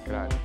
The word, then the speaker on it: Cruyff: It's pronounced Cruyff.